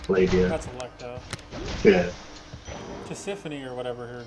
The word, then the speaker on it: Tisiphone: How do you pronounce her name? Persephone? Tisiphone.